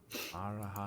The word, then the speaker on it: Marajado: Marajado. J would be pronounced H.